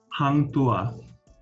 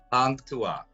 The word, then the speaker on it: Hang Tuah: And how do you pronounce that? Hang Tuah. Hang Tuah.